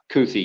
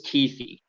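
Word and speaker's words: Kuithe: this is like the third you changed the pronunciation of me the tight end is it toothy now it's uh coothy yeah I mean I don't know they say it's keithy like Keith with the knee at the end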